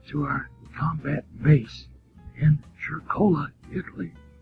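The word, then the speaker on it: Cercola: our combat base in chircola italy that's c-e-r-c-o-l-a and pronounced like it has an agent at charcoal italy where i was taking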